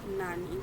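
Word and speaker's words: なに: जैसे जब हम किसी से पूछते हैं तो वहाँ पे हम नानी वर्ड का यूज़ करते हैं, मतलब यहाँ पे प्रोनाउंसिएशन आपका हो जाएगा नानी।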